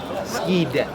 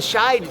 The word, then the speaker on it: Skeid: How do you pronounce it? Skid. How do you pronounce it? Sh. Sh. See, I told you I've never said I was the greatest annunci. So she coached the shide team.